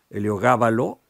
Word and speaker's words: Heliogábalo: de las rosas de heliogábalo con acento en la a eh el esdrújula eh Es realmente espectacular